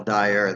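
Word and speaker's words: Dyure: doesn't die from female dire. That's the biggest problem with the female dire. Dire. Dire, like D-I-R-E, though it's spelled D-Y-U-R-E.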